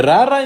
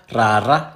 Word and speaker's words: rara: The rara in Sesotho is rolled R. It tends to hard T in isiXhosa, yes. Why does R become a T? Because they are both pronounced in the same area. Tata, rara, tata, rara. The only difference is that tata is ejective. So it's like it shoots. Ta, ta. Whereas rara is a trill.